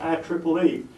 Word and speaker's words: IEEE: of electrical electronics Engineers quite often referred to by its initials I followed by three E's and pronounced I Triple E IEEE is the largest